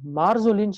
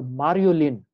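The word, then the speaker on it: Marjolin: Another is called Marzolin's ulcer. You can pronounce it as Marzolin or Mariolin. Okay, both.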